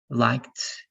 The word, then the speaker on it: liked: You need to know when you're going to pronounce the ED like T, watched, washed, liked, traveled, fixed, and when you're going to pronounce that like ED, like wanted, started, right?